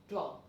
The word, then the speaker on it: train: Spelling is same, T-R-A-I-N, train. But the pronunciation, see, it's so different, train.